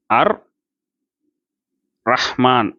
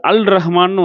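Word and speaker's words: الرحمن: அப்போ அதனால தான் இங்கே அர் ரஹ்மான் அப்படின்னு வந்துருச்சு, சரிங்களா? அர் ரஹ்மான் இல்லைன்னா இது அல் ரஹ்மான்னு வந்திருக்கணும். அசல்ல அல் ரஹ்மான் அப்படின்னு இருக்கணும்.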